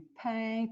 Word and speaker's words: peins: Tu peins. Tu ne prononces pas le S.